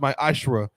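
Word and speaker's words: מעשר: numbers 1821 Malachi 38-10 it means 10th in Hebrew it's pronounced my ashra 10% of every penny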